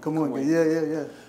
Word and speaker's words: Kamoinge: but you can, so I was gonna ask you about Kamuinge. Am I pronouncing it right? Kamuinge.